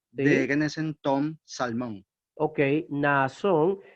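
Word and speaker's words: Ναασσών: Ok, Naasón. Tenemos la repetición del alfa. Naasón. 2 sílabas distintas.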